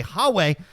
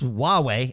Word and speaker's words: Huawei: that relates to Huawei I think is how you pronounce that I've been saying it the white boy American way hawe but I believe it's huwei and they're under prob